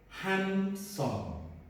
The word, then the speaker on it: handsome: Ladies and gentlemen, don't be confused about this word handsome. This E is silent. It's not like humble, simple, gentle, noble, but this is handsome. So the E is not pronounced.